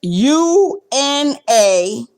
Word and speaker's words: unakaribishwa: So it's UNAKARIBISHWA. Una karibishwa. The same way you see it, the same way it's spelled, that's the way you say it.